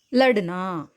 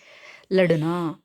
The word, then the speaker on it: लड़ना: லட்னா, லட்னா அப்படின்னு சொல்லக்கூடாது. லட்னா டேக்கு கீழே புள்ளி இருந்தால் டு அந்த மாதிரி உச்சரிப்பு நம்ம சொல்லணும். டு 2க்கும் நடுவில் இருக்கக்கூடிய ஒலி लड़ना.